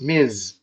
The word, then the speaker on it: Ms.: It's pronounced Ms.